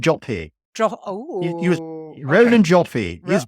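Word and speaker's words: Joffé: Is it Jaffe? Hoffe? Do you know how to pronounce the director? He's British, so make it British. Roland Joffe.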